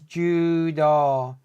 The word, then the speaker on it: judo: remember this in fact U makes the letter O longer in Japanese as well so it's Judo not Judo Judo you pronounce the e